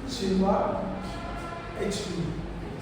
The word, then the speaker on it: Chinua Achebe: The pronunciation is Chinua Achebe Chinua Come on, repeat.